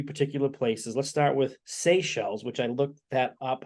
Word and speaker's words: Seychelles: talked about three particular places let's start with Seychelles which I looked that up how to pronounce it and did I do that right